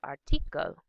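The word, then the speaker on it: Artikel: emphasis in German it's article so the second syllable tends to be um the stress is shifted to the second syllable in German so we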